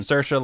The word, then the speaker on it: Saoirse: Saoirse like inertia. Oh, okay. Oh, you're talking about the actual actress's name? Yes, yeah, because I can Saoirse never...